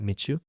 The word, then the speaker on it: Mitzu: So the first time I heard about uh Mitsu or what's the best way to pronounce that? Mitu. That's Mitsu.